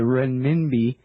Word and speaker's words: renminbi: talking here about the Chinese well let me pronounce it right the renminbi and how it is pegged to the u.s.